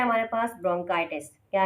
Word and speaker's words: bronchitis: सी एच बहुत सी जगहों पर चे की आवाज़ निकालता है और बहुत सी जगहों पर के की आवाज़ निकालता है, तो यहाँ पर सी एच की जो प्रोनाउंसिएशन होगी वो के की साउंड में होगी।